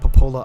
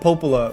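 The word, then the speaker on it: Popola: up don't don't say the words if you don't know how to say it I don't did I say it wrong yes it's DEA and Popa one of the best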